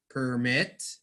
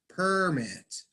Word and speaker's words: permit: It's a set where Yes, you do pronounce these words differently if they are a verb or they are a noun.